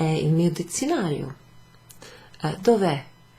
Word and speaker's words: Dov'è: So it would actually be written without the spaces, you know, and pronounced as if it's kind of one word. Che cos'è? È il mio dizionario. Dov'è?